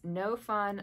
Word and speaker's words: Gnome Fun: this particular pattern is no fun like gome fun um and the no fun is spelled with a G so GN o no fun like gnome fun uh they designed this